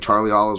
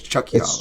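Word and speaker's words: Oliveira: and now you have a bunch of people saying Charlie Olives, which sounds fucking stupid. It's Chucky Olives. It's Chucky Olives, and it's spelled Olives.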